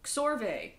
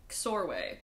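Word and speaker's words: Csorwe: Scorve? Scorve. Sorwe. Scorwe? How? I'm giving up. Xorve. Rhymes with doorway, KS as in books, so Xorve.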